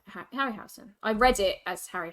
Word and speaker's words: Harryhausen: on the piano so the piano is a Harry house Harry Harry harryhausen harryhausen I think it's pronounced happy harryhausen I read it as Harry house when I